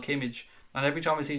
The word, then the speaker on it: Kimmich: I'm going to say it my way just to annoy you. Kimmich. Even though I know it's Kimmich.